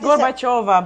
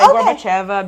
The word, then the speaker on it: Gorbacheva: I'm practicing, but sometimes it's Gorbacheva, but Americans say Gorbacheva because that's how it's written. Yeah. Gorbacheva. It doesn't matter. It's either one of those.